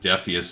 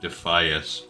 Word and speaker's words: Defias: trust myself considering um I've been saying defus instead of defias for uh 20 years now so I also pronounced